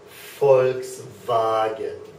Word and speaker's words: Volkswagen: f f and that whole thing would be pronounced FKS vagen folks vagen okay so an F sound and a v